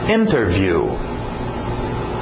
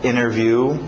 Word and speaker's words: interview: Interview. Interview. Geralmente pronúncia rápida, cai o T, fica só interview, igual internet, né? Interview, sem o T.